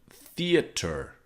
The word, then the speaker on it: theater: But like theater is, you can see under is the American spelling and it's more phonetic. Theater. 3 syllables.